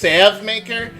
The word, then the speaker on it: Salvemaker: Kata, the Salvemaker, that corpulent commander of the Swordbearers, he has returned to these lands once more. Technically, isn't that pronounced Savmaker?